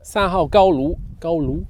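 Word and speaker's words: 三号高炉: I'm making my way to Sanhao Gaolu, yeah, that's how you say it.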